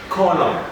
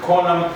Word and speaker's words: column: this one to where the n is not supposed to be pronounced and here we have a list of those ones we say autumn column column three column then we